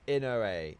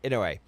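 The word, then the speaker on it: Inouye: On April 21st 1945 um Ino Inoi was grievely wounded while leading assault on the heavily defended Cole uh Musatello Ridge near San Torenzo, Italy. The ridge served. It's pronounced Inoa. Inaway.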